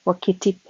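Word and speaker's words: Wakatipu: We left Invercargill by the 6:45 train in the morning to make an expedition to Lake Wakitip, pronounced Wakitip.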